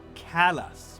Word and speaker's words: Calais: The name of that town is spelled exactly like the name of the French town of Calais, across from Dover, that city. But the Americans who live in that town call it Calais, because of course they do.